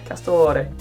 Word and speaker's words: Castore: It's either Castor or Castore. Castore.